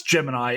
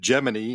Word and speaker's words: Gemini: in the film actually calls it Gemini, not Gemini. Right. I was like, what? Earlier tonight. Yeah, Gemini. That's right. Gemini. Yeah, because that's this debate among the space geek set is how to pronounce it. But I'll say from firsthand experience, everybody that I've interviewed or spoken with who was actually involved with the program, to a man, they all say Gemini.